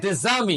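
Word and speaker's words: des amis: উদ্দেশজামি শেখশে শেখ শেখ দেজামি দেমি উজামি উদেজামি উজামি মানে কি আপনি খুঁজছেন বন্ধু অথবা বান্ধবী কিন্তু উচ্চারণ দেখেন একই দেজামি দেজামি অর্থাৎ অর্থ কি বন্ধু বান্ধবী বানানে আলাদা দেখেন বানান কিন্তু আলাদা খেয়াল করছেন হ্যাঁ এটা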